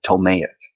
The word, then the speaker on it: Ptolemaic: That's I think the P is silent there. Ptolemaic.